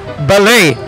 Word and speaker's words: ballet: lang padlock siya sa jeep Anyway para pron pronunciation challenge kong dominggo ang correct pagbasa ni word ng may Pap screen ay ballet meaning Dancing In which conventional poses and steps